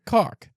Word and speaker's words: caulk: Why is it caulk? It's caulk. It's spelled caulk. Yeah. But they pronounce it cock.